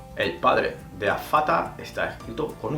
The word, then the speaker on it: Vater: En alemán la V se pronuncia como una F. Como por ejemplo der Vater, el padre. Der Vater está escrito con V.